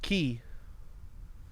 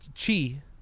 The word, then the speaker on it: chi: It depends on who you ask, technically. Okay. It could be pronounced, it's chi, but it could also be pronounced chi. It could also be pronounced ki. It can never be pronounced kai, so if you said